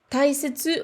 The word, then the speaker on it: 大切: un peu un piège, parce que taisetsu, on a tendance à voir le kanji de dai, donc on le prononce en général dai avec les tenten, et là, il n'en a pas. Il n'en a pas dans ce mot-là, donc faites bien attention.